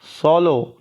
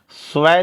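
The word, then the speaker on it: swallow: उसके बाद अगला हम लोग सीखेंगे सोलो। क्या पढ़ेंगे? स्वय नहीं, स्वय लिखा जाएगा, पढ़ा जाएगा क्या? सोलो।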